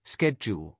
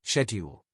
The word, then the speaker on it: schedule: And even everyday words like schedule, Americans usually say schedule, while the British say schedule.